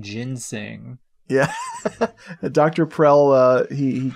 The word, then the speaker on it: ginseng: treat referred to as jin sung ginsong it's so funny i think somebody somebody mispronouncing ginseng yeah dr prell uh